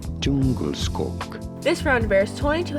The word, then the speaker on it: Djungelskog: This is the Jungle Skog, or, as it's pronounced in its homeland of Sweden, Djungelskog.